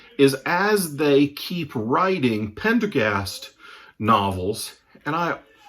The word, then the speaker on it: Pendergast: as they keep writing pendergast novels and I I'm sure I've screwed up the pronunciation and called him Pendergrast but it's Pendergast Aloysius Pendergast such a